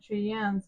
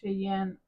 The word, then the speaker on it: Cheyenne: E is silent at the end of Cheyenne in English, but in Spanish the E's there, so you have to pronounce it Cheyenne.